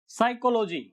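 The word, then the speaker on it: psychology: तो इन वर्ड्स को ध्यान से देखिए, यहां पी हर एक वर्ड में पहले पी आया और वो साइलेंट रहा है। नियम क्या कहता है, रूल क्या कहता है, एन और एस से पहले, कहां कहां, एन और एस से पहले पी साइलेंट रहता है, एन और एस से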